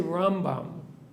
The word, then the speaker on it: Rambam: That when we say Rambam, we always put the stress on the first syllable.